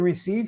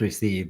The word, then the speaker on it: Reeseve: A lot of people think Oh, that it's pronounced Receive, but that's my actual name, so it's Reeseve.